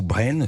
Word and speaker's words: Brain: À la une du journal des médias, le média Brain, ou Brain, si on le prononce à la française, s'arrête définitivement.